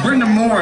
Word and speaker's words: Brenda Moore: I said that name wrong. It's Brenda Moore.